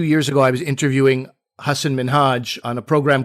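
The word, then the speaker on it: Hasan Minhaj: back and said listen this is how you pronounce my name it's hassan minhaj you know say it with me and his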